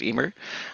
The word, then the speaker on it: Emer: fault at all uh my last name is pronounced Emer uh that only one person in the history